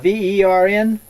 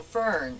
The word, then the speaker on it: Fern: Is that V-E-R-N? Vern? No, Fern, F-E-R-N.